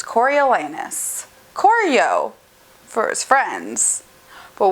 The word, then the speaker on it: Coriolanus: entire life of me, I thought that his name was Cornelius, and it's not. It's Coriolanus.